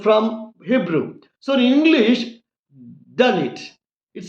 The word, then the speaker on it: Dalit: That is a true and original pronunciation in Hebrew language, because Dalit is originally a Hebrew word.